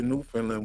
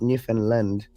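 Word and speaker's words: Newfoundland: they both live in New Finland yeah they're both from New Finland I'm trying to pronounce it correctly people have told me that it's it's not New Finland it's newfinland Newland yeah that's how and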